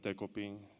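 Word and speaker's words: Decopin: So his name is Dekoping. That's a Japanese name, and I figured it'll be hard for American people to pronounce it. So he has an American name, and it's Decoy.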